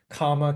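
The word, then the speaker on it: kāma: This is kama tanha, ka long A M A.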